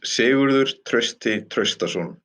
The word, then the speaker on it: Sigurður Trausti Traustason: would you please pronounce your name correctly for me? Yes, my name is Sigurður Trausti Traustason.